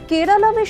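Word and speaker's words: കേരളം: কেরল থেকে কেরালাম, এই পরিবর্তন কি সেই আত্মপরিচয়ের পুনর্দাবি? মালায়ালিদের দীর্ঘদিনের দাবি ছিল ইংরেজি উচ্চারণে কেরালা নয়, স্থানীয় উচ্চারণে কেরালামের স্বীকৃতি মিলুক সরকারি নথিতেও। তাহলে কি এই সিদ্ধান্ত মালায়ালি গর্বকে নতুন মাত্রা দিল?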